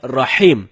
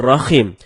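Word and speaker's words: رحيم: kita membaca rahim dengan rohim ini merubah makna rahim artinya yang maha penyayang sedangkan rohim artinya maha merdu bacaan yang benernya insyaallah dengan huruf ha ha dalam tenggorokan jadinya rahim bukan rohim kalau teman-teman bacanya rokim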